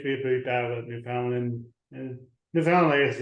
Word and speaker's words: Newfoundland: And by the way, nice pronunciation, Newfoundland, because people often get that wrong. But I mean, oh really? They always say like Newfoundland or my friends say